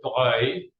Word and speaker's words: Duc de Broglie: is the Duc de Broglie. It's pronounced Broglie, but it's actually spelled Broglie.